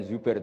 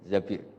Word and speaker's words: Zabir: Di hadis ini bukan bacanya bukan Zubair tapi Zabir, Abdurrahman bin Zabir.